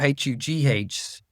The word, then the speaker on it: Hugh: h but then hu h u g h. We don't even realize there's a gh there and we don't pronounce it.